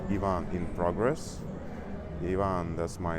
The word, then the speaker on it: Ivan: Ivan that's my name. Sometimes someone can pronounce it like a zon. I I'm okay with that. I really like this way of pronunciation like more American way and um I'm just